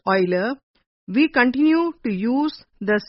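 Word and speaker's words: Euler: The symbol was made popular by the Swiss German mathematician Leonard Oiler pronounced Oiler.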